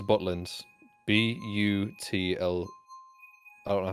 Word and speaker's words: Butlins: Wait, so you are saying Buttland? No, Butlins. Buttlind. Still. Wait, is it? B-U-T-L-I-N-S. Yeah, Butlins. But. Buttland. I thought you said Buttland. Joe, you Like, said Butlins. Those are not the same thing.